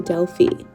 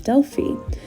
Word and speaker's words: Delphi: up about 10 minutes from that town to delie all my life I thought delie was pronounced Deli but after being here I learned that the correct pronunciation is delie um we eventually made it there and it